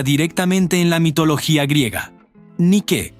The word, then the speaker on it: Nike: Nike, pronunciado Nike, es la diosa de la victoria.